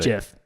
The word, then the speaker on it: GIF: to start this is close association about Jeff period the end that's final end of story you disagree this guy's